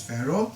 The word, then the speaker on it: Pharaoh: called came far okay and in English you pronounce it now as Pharaoh so Pharaoh will think